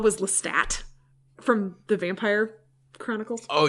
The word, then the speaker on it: Lestat: That was hard for me because I read it first and I pronounced it with the silent French T. But then there's Anne Rice just like Lestat this and Lestat that, and that was Ozymandias.